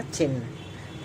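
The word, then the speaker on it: चिह्न: वैसे ही एक और देखिए, ह न, ह में हलंत, न है, तो क्या हुआ, चिन्ह।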